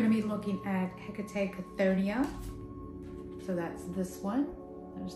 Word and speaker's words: Chthonia: So I'm going to start with Chthonia, and I'll add them in the description, the pronunciations for this. So this is k-tho-NEE-ah.